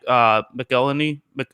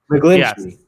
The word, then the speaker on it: McGlinchey: I think it'll probably be Mike McGillany, whatever. I'm not very good at pronouncing names. Yes. McGlinchey.